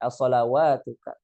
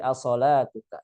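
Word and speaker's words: صلاتك: As-salawatuka, as-salawatuka. Jadi jangan sampai dibaca seperti itu. Jangan sampai dibaca qalu ya syuaibu as-salawatuka. Tapi as-salatuka seperti itu.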